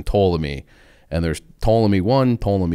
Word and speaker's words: Ptolemy: this guy named ptolemy it starts with the letter it's it's written out with a p like the first it's like a silent p but then ptolemy and there's ptolemy one